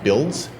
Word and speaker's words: BLDS: It's pronounced BUILDS, and it's the Building and Land Data Specification, and it's a data standard for building permits.